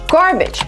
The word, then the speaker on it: garbage: Garbage. Some people say garbage. Garbage disposal? But it's actually garbage.